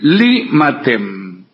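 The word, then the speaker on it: 利瑪竇: Mateo Richi en chino se dice li matem.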